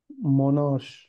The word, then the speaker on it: monarch: yes this word is Monarch H this is K the CH is K a monarch Monarch exactly monar yes this